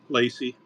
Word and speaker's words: Lacey: Um, Lacey. Okay, Laci. Lacey. Yeah, it's a female. Laci or Y? Why? Oh, Yeah. Lac. Very good. Cool. Rhymes with Stacy and Macy, and Spacey and Tracy.